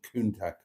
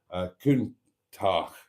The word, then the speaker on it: Countach: fitted to a Lamborghini Countach. Countach. I gave it a hard C.